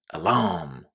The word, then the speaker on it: alarm: Where would you put the stress in this word? The first or the second syllable? What do you think? Well, listen and check. Alarm. Alarm. It's the second syllable and it's a really, really strong stress. So, make sure you say alarm stressing the second syllable.